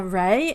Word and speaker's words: Reay: And yeah, my name is Reay. If you're wondering how to pronounce my surname, just think of sun rays, is how I like to go about it.